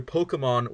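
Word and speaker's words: Pokémon: Pokemon with an accent on the E.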